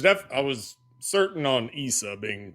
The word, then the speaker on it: Issa: I just want the the the pronunciation of um Jesus's name in Arabic. Uh just the Jesus part is Issa.